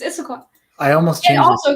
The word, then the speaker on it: Issaquah: It's Issaquah. Issaquah. It's Issaquah. Yeah, you're right. Is it? Yeah, it's Issaquah.